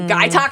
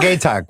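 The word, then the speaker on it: Gaytok: Guy Talk or Gay Talk? Was I saying that wrong? I think it's Guy Talk. I think it's Guy Talk. We were all saying it. All of us were saying it wrong.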